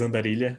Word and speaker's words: Andarilha: I spoke Andarilha, but how it's pronounced is Andarilha because it's a Portuguese word.